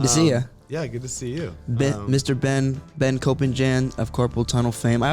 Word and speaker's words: Koppenjan: It's pronounced Koppenjan. Jan. It's Dutch.